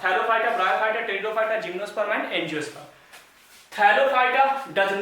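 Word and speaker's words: Pteridophyta: Third one इज टेरिडोफाइटा, पी यहाँ पे silent है, टेरिडोफाइटा, टेरिडोफाइटा। Fourth one is gymnosperm, gymnosperm.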